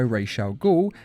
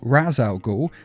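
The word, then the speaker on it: Ra's al Ghul: being burnt down by Rochelle Gaul and the league of the Shadows sorry I should say Raz Al ghoul because they mispronounce it in this film sorry I have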